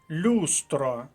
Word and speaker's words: люстро: там пояснення звучало далі люстро наголос на перший склад перший склад перша колонка люстро або дзеркало ми